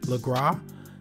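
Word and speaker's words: Lagras: which is right below the word legra s is silent right here at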